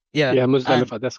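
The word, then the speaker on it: Muzdalifah: to Muzda, I forgot how to say it, Muzdalifa. Yeah, Yeah, and Muzdalifa, that's correct.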